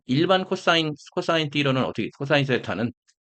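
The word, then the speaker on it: theta: 자, 일반 코사인 띠로는 어떻게, 코사인 세타는, 데타는, 이게 우리나라 한자 세타라고 그래가지고, 데타는, 저희 그리스 발음을 들어보니까 데타 이러더라고요.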